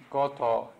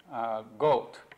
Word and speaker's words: Goto: My last name, Goto, is spelled G-O-T-O. And when I went to Wabash College years and years ago, some of my classmates would call me Goat, or Goat, or even call me Goat.